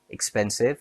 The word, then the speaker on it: expensive: Expensive has three syllables stress on pen. expensive and communicate has four syllables stress on moo.